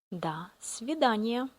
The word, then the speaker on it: До свидания: We write до, but we don't pronounce like O. We pronounce А. До свидания.